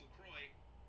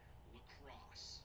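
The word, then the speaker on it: LaCroix: So if it's not French and it's not pronounced Lacroy, what is the name of our product? Well, you may have guessed it. It shares it with the very city in which it was created. Lacrosse.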